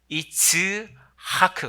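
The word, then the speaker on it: יצחק: 낳 아들을 이름하여 이삭이라 하였고 자 이삭을 히브리말로 발음하면 제 입을 잘 보십시오 이츠하크 되는데요 저한 이스라 화원 이스라 할머니가 창기를려 때요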